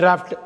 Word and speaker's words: draught: ரெண்டுத்துக்கும் DRAUGHT தான் spelling, ஆனால் உச்சரிக்கிறப்ப டிராஃப்ட் DRAFTன்னு உச்சரிக்கணும். அடுத்து நம்ம பார்க்க போகிற மிஸ்ப்ரொனவுன்ஸ்டு வேர்டு வந்து இஸ்மஸ்.